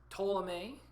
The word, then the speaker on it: Ptolemy: Ptolemy, the P is silent, gets Egypt.